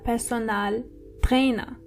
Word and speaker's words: Personaltrainer: A personal trainer is der Personaltrainer. So it's similar, but you have to roll your R one more time. Der Personaltrainer. And the A in personal is more obvious than the English version.